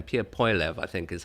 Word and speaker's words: Poilievre: his last name, Pierre Poilievre, I think is how he pronounced it. Poilievre, that's what I was saying. Poilievre is the French name, but he's got an anglified version of it.